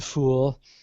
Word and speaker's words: Phule: Or I should say at the Fool. It's spelled kind of weird. It's the Phule.